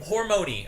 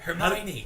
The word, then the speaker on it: Hermione: yearn the for books is to how to pronounce their freaking names. yes, definitely. Hormone, okay? Hormone. Hermione. No, Hermione.